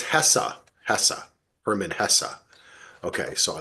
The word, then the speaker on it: Hesse: Well, he says it's Hessa, Herman Hesse. Okay, so I like that pronunciation.